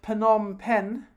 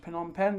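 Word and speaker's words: Phnom Penh: people the city of panom pen I think it's pronounced penom pen the city of panom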